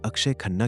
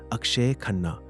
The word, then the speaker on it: अक्षय खन्ना: कई लोग उन्हें अक्षय खन्ना कहकर बुलाते हैं। लेकिन उनका सही नाम और उच्चारण है अक्षय खन्ना।